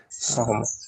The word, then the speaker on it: salmon: The L is not pronounced. Salmon. Salmon.